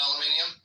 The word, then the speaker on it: aluminium: Is it actually spelled aluminium? They just say it aluminum. I mean, they add an extra syllable, but I think they might spell it with that extra syllable too, maybe.